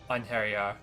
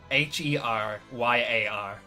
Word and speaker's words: Einherjar: in English, it's like Einheryar. Einherjar. Yeah, it might be like. I would hazard a guess that it would end on like an ah noise instead of an r noise.